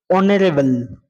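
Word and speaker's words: honourable: তোমরা দেখতে পাচ্ছ যে অনারেবল অনারেবল ম্যান অনারেবল ম্যান হয় এইখানে তোমরা দেখতে পাচ্ছ যে অনারেবল অনারেলেবল এটা উচ্চারণটা এজ কিন্তু এখানে উচ্চারিত হয় না অনুচ্চারিত হয় এজ এজ এর উচ্চারণ কিন্তু হয় না এজ অনারেবল এর উচ্চারণ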